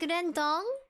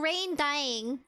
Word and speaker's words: rendang: Oh, Brown Dwarf says it said kind of like rendang, but he sounded like he was saying rain dying.